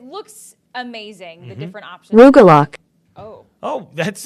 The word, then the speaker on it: Rugelach: Rugelach.